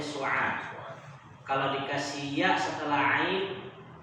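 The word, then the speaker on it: سعاد: Kalau dikasih alif setelah ain, maka bacanya su'ad.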